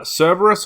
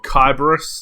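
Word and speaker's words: Cerberus: So, we have uh Cberus or Kyberus if you want to pronounce it in the original uh Greek way.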